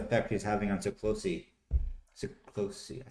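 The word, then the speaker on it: Siklósi: SIklosi.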